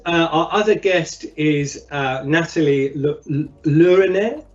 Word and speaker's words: Laneret: Did I pronounce that? Laneret. Laneret. Apologies. No problem. No, my French is terrible. You can say Laneret. It's the English style. Yeah, I know, but we always pronounce the T, right? And it's just not good. It's Laneret.